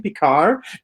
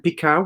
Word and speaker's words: Picard: And I said, it's a French name, Picard, but still everybody pronounced it in the same way.